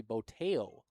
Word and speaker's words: Boteo: That fine gentleman who gave us them all came all the way back up here and told me it's actually Boteo.